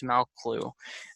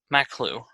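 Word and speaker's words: Maqlû: It's called the Witchcraft series Malclu. Maklu. Always mispronounce that.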